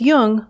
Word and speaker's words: Jung: Just be sure to pronounce Jung with a hard J. So with special thanks to Routledge, this is Laura London, and you've been listening to Speaking of Jung.